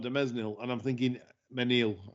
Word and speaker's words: Mesnil: I bet Gallard de Mesnil, and I'm thinking Menil. I know people don't pronounce the S. Menil.